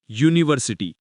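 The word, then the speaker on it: university: तरी उच्चार काय होतो युनिव्हर्सिटी य हे व्यंजन आहे स्वर नाही म्हणून इथे अन युनिव्ह्सिटी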